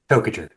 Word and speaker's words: Toajer: Toajer. Oh, just like it's spelled.